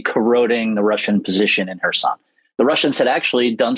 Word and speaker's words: Kherson: I obviously wanted to get your take, was that the Ukrainian people have taken back Kherson, as you taught me to pronounce it.